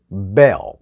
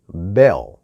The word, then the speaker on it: bell: 그래서 bell, help, hell 이렇게 됩니다. 다시 한번. 벨, 헬, 헬프가 아니라 bell, help, help. 네. L이 아니라 에어.